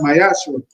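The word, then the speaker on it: מעשר: You can find it in numbers 18 verse 21 in Malachi 3:es 8-10 which means 10th in Hebrew and is pronounced myashu 10% of every penny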